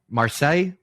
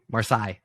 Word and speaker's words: Marseille: on seven points I keep saying it wrong Marseille marcai you get it right up there uh Tottenham